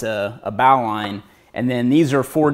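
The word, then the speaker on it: bowline: line hitch and then bow line which is pronounced the correct way alright so again square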